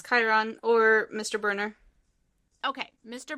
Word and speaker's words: Chiron: Chiron? How do you say his name? Yes, it's Chiron or Mr.